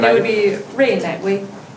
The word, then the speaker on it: Rui Naiwei: It would be Rui Naiwei. It would be Rui Naiwei. Rui Naiwei? Yeah, there we go.